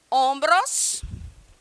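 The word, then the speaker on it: hombros: temos no nosso tronco ombros ombros que é escrito da mesma forma que pronuncia-se da mesma forma que em português A única diferença é na escrita ombros em espanhol leva o h na frente tá como vocês sab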